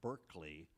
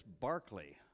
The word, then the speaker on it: Berkeley: you should know that it's not pronounced Berkeley unless it's up in Northern California uh in England it's Barkley uh also a good